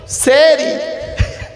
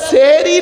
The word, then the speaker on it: সাহারি: সেহরি। শব্দটা সেহরি নয়, শব্দটা হলো সাহারি।